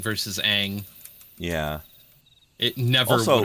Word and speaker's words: Aang: I said, no, they actually pronounced it wrong in the series. Oh, you mean the main character? Yeah, Ong versus Aang.